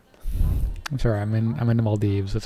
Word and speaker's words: Maldives: I'm sorry, I'm in the Maldives. That's how you pronounce it.